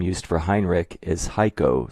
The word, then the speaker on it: Xico: The letters of the second syllable are CO pronounced co. Xico is pronounced Heiko.